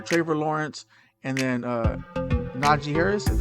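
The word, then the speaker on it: Najee Harris: two right here traver lawrence and then uh naji harris that's how you say his name okay so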